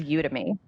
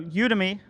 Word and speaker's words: Udemy: it mr supply chain how do you pronounce it well maybe i think it is you to me i okay so udemy so you and me i think we might